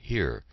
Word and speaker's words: hier: We answered the roll call either with the French word présent or the German word hier, pronounced the same as our word.